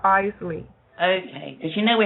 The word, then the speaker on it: Isley: Am I pronouncing your name correctly? Um, it's pronounced Eley.